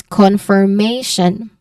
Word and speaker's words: confirmation: i o n this this is pronounced as shun su n okay just like any other like nation Okay. All right. So, you say it as confirmation.